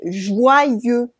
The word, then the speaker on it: joyeux: And we don't say the X at the end, okay? So don't say joyeux or joyeuse. No, it's joyeux Noël.